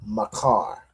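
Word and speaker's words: מחר: All right, so to say tomorrow, you say makar.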